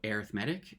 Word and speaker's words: arithmetic: It's called arithmetic. It's kind of like arithmetic, but we just pronounce it a little bit differently. Um, so arithmetic, and that's what the next two lessons will be on that type specifically.